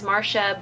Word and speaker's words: Marcia: nickname Archaea why because my name is Marsha but it's spelled Marcia and my family and